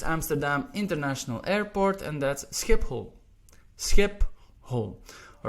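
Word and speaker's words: Schiphol: next one is Amsterdam international airport and that's skip hole skip ho all right SE little bit of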